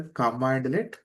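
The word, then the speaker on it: cmdlet: There is a commandlet I'm writing as a cm delay but pronouncing as a command alias sorry my mistake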